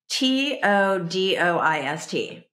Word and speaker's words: Todoist: and it was spelled t o d o i s t it looks like too t o d o i s t and it's pronounce todoist like to-do list todoist but how would you